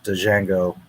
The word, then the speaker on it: Django: How come in real life Jango is spelled Django? What does the D do? I don't know. It's silent.